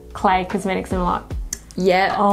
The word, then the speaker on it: CLE: So CLE Cosmetics is pronounced CLE. It's not CLE, which we thought for the first bloody 6 months when we...